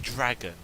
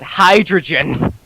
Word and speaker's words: Hydreigon: Hydreigon. Hydreigon, right? I always call it. You'll never get exactly called what I actually used to call Hydreigon. I used to call it hydrogen.